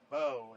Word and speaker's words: Bo: Bo. It's Bo. It rhymes with no.